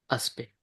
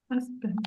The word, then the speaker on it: aspect: Aspect. Aspect. Voilà, c'est tout simple hein. Il y a beaucoup de lettres qui sont juste pour l'orthographe.